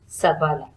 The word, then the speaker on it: Shabale: So Shabale is pronounced as Sabala.